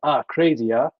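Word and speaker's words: akrasia: nature of what they called atracia which is pronounced are crazier our tendency to act against our better judgment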